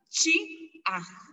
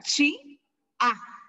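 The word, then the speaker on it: chi'aj: Se pronuncia boca, es chi-aj. Vuelvo a repetir, boca, que es lo de acá, se pronuncia chi-aj, porque es apóstrofo, ¿ok?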